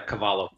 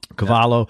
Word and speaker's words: Cavallo: session guitarist with producers Rob Cavallo and I pronounce all writers caballo yeah Cavallo Cavallo and John fields after leaving the Goo Goo